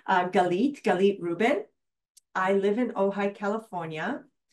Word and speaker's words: Galit Reuben: from all over the world and how you pronounce my name uh galit galit Ruben I live in ohigh California and I'm a